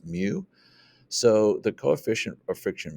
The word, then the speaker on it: mu: little symbol here's this Greek symbol it's it's pronounced mu so the coefficient of friction mu is basically